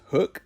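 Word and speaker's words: Huk: next item is pronounced hook even though it's spell h-u-k I call it Huck because that's what it looks like but it is hook many of you guys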